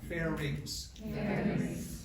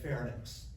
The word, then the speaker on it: pharynx: needs of parents everybody say that out loud fair reaps bell rings look how it's spelled something right here fairies everybody see that okay nothing screams out I didn't pay attention in school like calling it fairness with you taught fair neck so you're telling